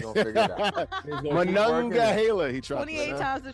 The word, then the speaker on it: Monongahela: I think you said it right that time. Yeah, the Monongahela. There we go. That's better.